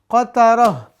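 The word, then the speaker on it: قترة: Kita ganti semuanya dengan ha di ujung-ujungnya ya. Maka ini diganti dengan ha. Tun dengan ha. Gobaroh, gobarotun kita ganti dengan ha. Kalau diwakafkan. Qatarotun kita ganti dengan ha. Terakhir al-fajaratu kita ganti dengan ha. Ini pemirsa cara bacanya ya.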